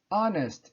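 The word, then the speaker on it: honest: tenho um neste inverno oreste eu não pronuncio o h a conhecer ok então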